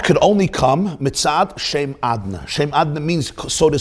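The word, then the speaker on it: Adonai: hainu inyan hagiluhu b'shem adna. So this means that the way he's written is not the way he's pronounced. The way he's pronounced is the name Adna, not Yud Kei Vav Kei.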